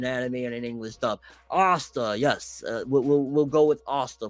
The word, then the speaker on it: Asta: I pronounce it wrong, I know, but I've been pronouncing it since before there was an anime and an English dub. Asta, yes, we'll go with Asta from now on.